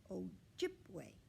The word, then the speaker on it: Ojibwe: my native american tribe you say it like this ojibwe see ojibwe i'm learning my ojibwe